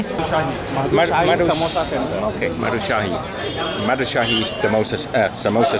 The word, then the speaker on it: Madhushahi: Madhushahi Samosa Centre.